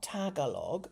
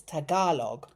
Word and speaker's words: Tagalog: Um so, I've been told it's not Tagalog, it's Tagalog. Tagalog.